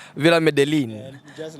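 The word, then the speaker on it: Medellín: You know, in Spanish, L is like J. Double L seems J. Okay. So it's Villa Medellin.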